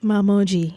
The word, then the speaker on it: Mamoji: Mamoji. MaMoGi. Like, you know, the iPhone, they have MeMoji, but Mamoji MaMoGi.